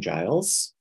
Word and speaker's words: Giles: is uh Giles um it is a soft G right okay um what's that like in Buffy okay all right got